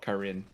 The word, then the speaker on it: Karin: But no one gets mad that Karen is called Karen and not Karin, like it's supposed to be. I've studied Japanese for about 8 years, so like, I naturally will go for the Japanese pronunciations.